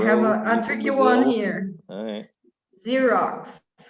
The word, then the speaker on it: Xerox: a tricky one here xerox i love this one it sounds like a z or z as you